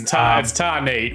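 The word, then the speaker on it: Tarneit: Apologies to any Melburnians if I butchered that town's pronunciation. It's Tarnay. We just say it the way it's written down.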